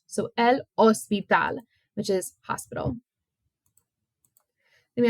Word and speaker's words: hospital: it is in Spanish we just do not pronounce the h so l ospital which is hospital then